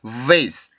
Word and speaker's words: vase: 그러니까 그 세 번째 했던 발음의 특징은 울림 소리, 위 발음이 가지고 있는 그 마찰음의 소리인 밀어내는 공기가 나와 있었죠. 그래서 vase, vase, vase 이렇게 해서 그 소리가 만들어지는 겁니다.